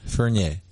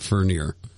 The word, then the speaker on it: Vernier: Vernier. Well, I think we pronounce it French because we're Canadian, but I think the Americans pronounce it Fernier.